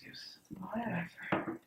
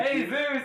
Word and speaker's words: Jesus: against It's pronounced Jesus. Yeah, come on. Jesus. Jesus. And Hey, Zeus!